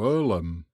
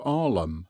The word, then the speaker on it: Earlham: map and guidebook Pride translated it into Earlham but we were reduced to arlum at last even in